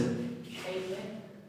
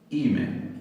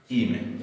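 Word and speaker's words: είμαι: Eime. Eime. Otra vez. Eime. Ime. Ah, eso es. Ime. Ego, ime. Por el diptongo. Sí. Epsilon iota se va a leer I.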